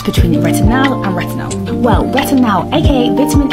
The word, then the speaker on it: retinal: It's retinal, not retinol.